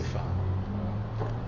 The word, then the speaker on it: femme: c'est un mot simple il faut l'écrire avec F 2 e et prononcer femme voyz la difficulté monsieur